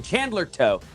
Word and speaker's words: Chandler Toe: Getting the correction, Chandler Toe. Chandler Toe, I often get those names confused. Chandler Toe does rhyme with Co.